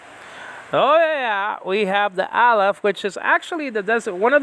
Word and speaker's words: Aleph: The only Hebrew letter that designates a Greek New Testament manuscript is this letter, Aleph. It's a silent letter, by the way.